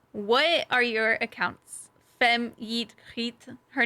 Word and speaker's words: YeetGriet: So my username is Dutch, and it's pronounced YeetGriet. So not greet with a hard G. It's like a Giet? cat hissing. Giet. It's like cat Yeah. hissing. Oh, YeetGriet.